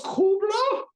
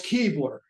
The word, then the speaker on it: Kuebler: very, very German nurse comes out and goes, "Kubler?" And I said, "No, it's Keebler." And she said, "No, it's not." And I said, "Well, we've always pronounced it that." And she said, "Then you would be wrong."